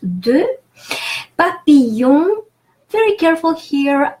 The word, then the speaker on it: papillon: Papillon, very careful here, ILL is pronounced E, it's a long E. The L is not pronounced at all, so papillon.